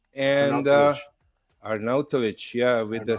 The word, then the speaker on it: Arnautovic: your Italian background uh the name is ER arnovic and arnovic yeah with the c at the end but